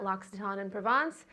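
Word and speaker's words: L'Occitane en Provence: of digital marketing at Lockxaton in Provence. I know no one knows how to pronounce it, but that is how you pronounce it.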